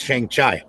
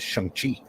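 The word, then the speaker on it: Shang-Chi: when i was a kid it was always chiang chai but uh we were always mispronouncing it they changed it well apparently his correct pronunciation is shanghi oh master master of kung fu and i'm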